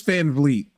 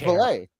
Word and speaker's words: Van Vliet: How do you pronounce the name? I think it's Chris Van Vliet. I thought it was Valet.